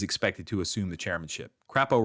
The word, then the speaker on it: Crapo: Crapo rhymes with crypto, right?